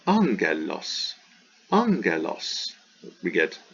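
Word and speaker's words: ἄγγελος: kappa c or chi then it's pronounced like n n so this is not ag but angelos angelos we get it's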